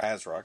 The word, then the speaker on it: ASRock: see asrock has put our asrock as i said is the proper pronunciation uh this does have